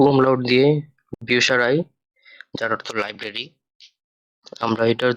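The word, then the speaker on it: Bücherei: তো উ umlaut দিয়ে বিউসারাই, যার অর্থ লাইব্রেরি। আমরা এটার যদি উচ্চারণ করি বে, উ umlaut সে, হা, এ, এর, এ, ই, বিউসারাই। এখানে উ umlaut এর জন্য উপসারাই না হয়ে বিউ সারাই, যেহেতু umlaut এর উচ্চারণ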